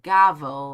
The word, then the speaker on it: gavel: It's like gavvel, like unravel. I see.